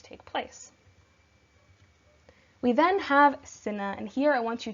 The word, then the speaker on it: Cinna: confused with me Brutus above then we have Cinna medalists Cimber trebonius and KY ligarius and these